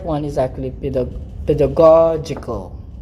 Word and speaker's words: pedagogical: one is actually the pedagogical pedagogical all right so the first g is hard the second g is